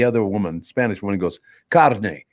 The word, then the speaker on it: carne: And the other woman, Spanish woman, goes, "Carne. It's carne." You made a commercial about the pronunciation of the word carne.